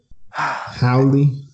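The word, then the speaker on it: haole: Or hey ole, is that how you say it? H-A-O-L-E, or is it holly? Hey ole. Howley. There you go.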